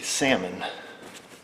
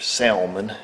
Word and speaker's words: salmon: Get yourself a salmon, or salmon, if you pronounce the L, colored rag, or light red as I call them.